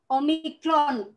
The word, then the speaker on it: omicron: kya-kya atau qsort Ed kemudian ada omicron Oh kita baca Oh sama seperti kita membacanya kemudian ini adalah